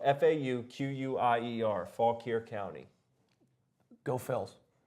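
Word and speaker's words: Fauquier: Coach Tim mcenany Rod self Mark trouble and it's spelled f-a-u-q-u-i-e-r Faulk here County go fills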